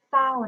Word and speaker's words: เศร้า: เอา เส่า ไม่ โท เศร้า นะ คะ สศ ศาลา ร เรือ เรา อ่าน ออก เสียง เป็น ส เสือ นะ คะ คำ ว่า เศร้า ค่ะ นัก เรียน และ